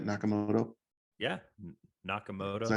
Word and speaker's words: Nakamoto: Yeah, Nakamoto.